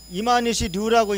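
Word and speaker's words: 今西龍: 왜냐하면 자 다음 자료를 보시면요, 일본의 금서룡, 한자로 일본이 한자로 금서룡으로 적고 이마니시 류라고 읽는 식민 사학자가 있습니다.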